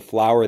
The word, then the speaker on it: flour: This is the flour that you bake with, and this has flour, flour, flour, flour. And this is the same pronunciation as the actual flower that grows out of the ground.